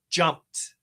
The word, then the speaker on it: jumped: So, in this case, the pronunciation is jumped. Jumped with a t. Jumped. Jumped. Jump. Stop sound. Finish with a t.